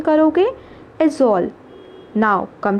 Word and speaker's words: Aizawl: आप क्या प्रोनाउंसिएशन करोगे? एजोल।